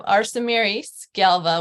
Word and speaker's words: Arsemiris Galva: dear friends and fellow entrepreneurs so I have Arsen Marys Galva with me today and I hope I said